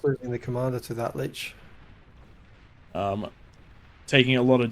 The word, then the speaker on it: Lich: How do you pronounce that? Lich.